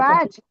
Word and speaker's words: badge: இது இந்தியால ரொம்ப badge, D silent, பேட்ஜ்னு தான் படிக்கணும். பேட்ஜ்னு படிச்சிட கூடாது. badge, அதனால இது ரொம்ப முக்கியம்.